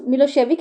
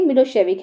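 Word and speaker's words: Milošević: nationalist मिलो सेविक pronounce मिलो सेविक हैड वन the election तो वहां तक क्या था सर्व का जो नेशनलिस्ट था मिलो सेविक इसको हम प्रोनाउंस करेंगे मिलो सेविक है ना तो उसने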